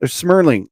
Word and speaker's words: Smurling: But yeah, I wish Mr. Jeremy Smelling the best. Smurling. Oh my god. If he hears it's pronounced Smurling, I'm like easy dude, you know.